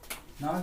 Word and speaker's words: know: Suppose to take the no, KNOW. K is the silent letter of this word.